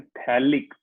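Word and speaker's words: phthalic: हाँ, इसमें P silent होता है, तो इसको क्या बोलते हैं? थैलिक acid.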